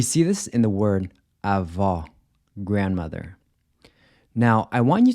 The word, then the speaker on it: avó: Then the open O is pronounced aw, like the aw in awesome. We see this in the word avó, grandmother.